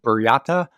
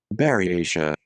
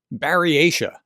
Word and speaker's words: Buryatia: I called it Buryata, Buryatia, I guess, yesterday. And this is what it actually is. Baryatia. Baryatia. Well, I got that way wrong.